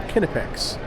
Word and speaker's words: Kinepex: I asked them that's how you say it. They say it's called Kinepex.